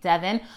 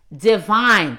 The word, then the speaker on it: Devine: more chemistry with divine I was saying her name wrong all last week I kept saying Devon but it's not my fault black people try to get too creative with their names Devon's name is spelled de vie why no I'm sorry Devine this is why I keep getting my stuff Divine's name is spelled de v YN when I see it I see Devon not to vine because I graduated as an